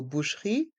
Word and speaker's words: boucherie: la boucherie la boucherie dans le mot boucherie les voyelles o et U font le son ou la boucherie et le E est mué la boucherie la boucherie